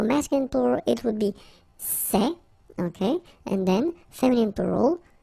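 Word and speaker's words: ces: set feminine form and for the plural you've got only one form okay and it's say okay remember open Say Say Say Okay one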